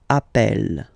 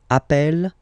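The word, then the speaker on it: appelle: That's the reason why you pronounce it Apple. Okay. Apple and apple.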